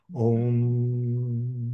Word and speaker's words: Om: And when you finish with the M sound, you should resonate with that nasal sound, Om, because that sound at